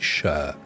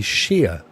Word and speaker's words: shire: known as something sure we pronounce it sure Devonshire is where I live uh I mean some people don't some people say sheer they never say Shire